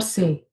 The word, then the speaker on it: c'est: it we call it set or say. Set we'll pronounce only when the next word starts with a vowel.